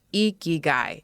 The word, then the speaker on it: Ikigai: Yes, it's pronounced Ikigai if you've heard of it before.